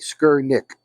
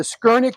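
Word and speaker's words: Skurnik: add to your add that to your list skerik let me spell it right for you again s r SK r n i k skir Nick and um they're one of the top prod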